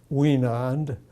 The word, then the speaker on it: Wienand: My name is Wienand, as we know it. Could you spell your last name? Oh, my last name is spelled W-I-E-N-A-N-D. Could you spell it again? Surely. W-I-E-N-A-N-D.